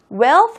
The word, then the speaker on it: wealth: wealth 발음할 때 th 발음 잘 유의해서 발음하시기 바랍니다.